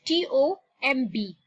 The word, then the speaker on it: tomb: Okay, now look at this word T-O-M-B. Now the B there is silent when we pronounce it. It's gonna be tomb.